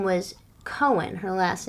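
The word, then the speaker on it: Cohan: But not C-O-H-E-N. Wasn't it C-O-H-A-N? Yeah, they were C-O-H-E-N. He pronounced his name George M. Cohen, but he started off in the Four Cohens.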